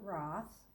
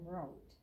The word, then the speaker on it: Roth: Most people pronounce it Roth, but I go by the German name Roth.